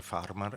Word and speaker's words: Farmar: Si chiama Annaria Filippi Farmar, che mi hanno detto che si dice Farmar e io dall'epoca perché su a Valli del Pasubio l'accento io ubbidisco perché non non voglio sbagliare gli accenni.